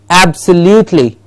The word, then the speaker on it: absolutely: to do it for yourself and try and pronounce these words yes in this list here beginning with beginning with absolutely absolutely yes now what is happening you see